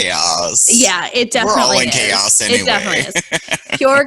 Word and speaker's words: KAOZ: Pure KAOZ, Pure, I don't know how I'm supposed to pronounce that. Chaos. Said, oh, there we see. I think it's chaos.